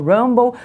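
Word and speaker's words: Rumble: 26 minutos nós seguimos ao vivo na plataforma Rambo Rambo se escreve r u m b l e você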